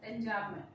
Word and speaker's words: enjambment: M is silent here, it is enjambment.